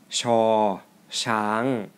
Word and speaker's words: ช ช้าง: both have different tones it does not have an equivalent sound in English but it is very close to the English sound as in shake you can go back